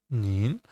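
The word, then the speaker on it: 您: The second tone uh like you ask a question nin um you just polite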